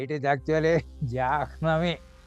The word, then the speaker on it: Jahnavi: But people will call it as Janami. Jahnavi, yes, sir. They will not pronounce her. It is not Janami. It is actually Jahnavi, like that.